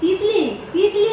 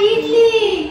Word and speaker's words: ইডলি: িকটা রাখব আজকে কি তিতলি তিতলি না আরে ইডলি তিলি ওটা তিলি